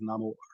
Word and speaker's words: Namor: I mean guess I I pronounce I pronounce comic the the Comic version as neyar but this version is namore obviously obviously I mean obviously we give it the Spanish pronunciation for people you got